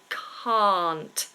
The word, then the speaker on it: can't: I cannot I can't it starts exactly the same as the word car I drive a car notice how my mouth stays completely open my tongue doesn't move and we don't pronounce the r car very different from the word can can look how my mouth changes the shape is completely different a c can can't I